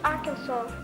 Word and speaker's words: Arkansas: It is pronounced Arkansas.